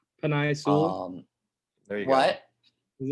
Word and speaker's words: Penei Sewell: Because I don't want to butcher the name. Penei Sewell. There you What? go. Is it Penei Sewell?